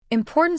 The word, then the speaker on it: important: For example, important stress on the second syllable, important.